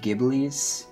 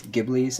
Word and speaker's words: Ghibli: one actually has uh I think it's actually pronounced gibl in this case gibl episode 2 which is